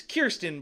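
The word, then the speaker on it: Kirstjen: secretary Kirsten cute what it's it's it's Kirsten but it's spelled que ir st je n okay Kirsten Nielsen will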